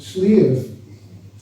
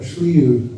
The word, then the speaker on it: Slieve: And Slieve, or Sliu, as it would be pronounced here, is, in Ireland, your big mountains tend to be called Slieve.